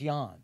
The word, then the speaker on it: Jann: Did you it's pronounced Jann, but still, but it was J-A-N. It didn't, when I added it, it didn't help with the pronunciation anymore. No. It's still Jan, you know.